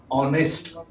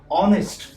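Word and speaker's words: honest: पहला जो लेटर है वो है ऑनेस्ट, यहाँ पे ह साइलेंट है, ऑनेस्ट।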